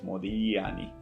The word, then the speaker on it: Modigliani: a medio cone y modigliani porque la gente en italiano se pronuncia como una doble l en español modigliani así que bueno cierro